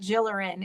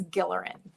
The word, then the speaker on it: Gilleran: So there's a lot of layers of what that means, but basically it is about how to pronounce our last name, which is not Gilleran, it's Gilleran. Any chance in the future for merchandise and stuff like that, hats, t-shirts and stuff too?